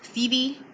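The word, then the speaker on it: cedi: one Ghanaian, I believe it's pronounced CD, is 17 cents in US dollars.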